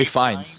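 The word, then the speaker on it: Ralph Fiennes: I always forget how to pronounce his name. It's like Ray Ray Fiennes.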